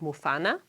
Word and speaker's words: mufana: as you see with the word muana the syllable MO is normally low tone but when it is preceded by a high tone on the preceding e it becomes High toned but in the word